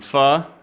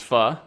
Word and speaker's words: Pho: flight over there and go get me some Pho it's not it's not pronounced it's fun for everyone out there and uh we'll get